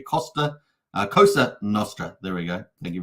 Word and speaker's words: Cosa Nostra: So just say it correctly. Cosa Nostra.